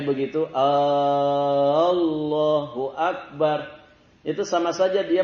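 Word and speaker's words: الله: Tidak ada huruf wau. Itu lam yang bertasydid. Lam bertasydid. Cara bacanya tafhim. Tafhim itu ditebalkan Allah. Allahu Akbar. Jadi bukan wau. Kalau dibaca pakai wau berarti keliru.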